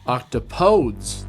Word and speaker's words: octopodes: Octopodes, the grammatically correct plural, if you follow the word's original Greek roots, pronounced octopodes.